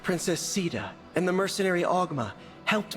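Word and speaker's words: Caeda: powerlessness allies like princess Sita and the mercenary augma helped me retake my homeland thank you for pronouncing it as Ceta my people call me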